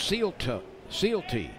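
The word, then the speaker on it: Sylte: Hayden calto is pitching it's spelled Sy y l te pronounced seal sealt three balls two strikes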